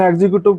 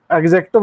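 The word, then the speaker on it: executive: ठीक है, चाहे इसे एग्जीक्यूटिव बोल दो, लेकिन एग्जीक्यूटिव प्रोनाउंसिएशन सही नहीं है, एग्जेक्टिव होता है सही।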